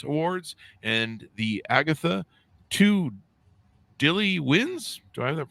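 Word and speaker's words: Dilys: RT reviewers Choice Awards and the Agatha two Dilly wins do I have that pronounce right Dy wins Dilly wins Dillis Dillis wins well they misspelled that it's d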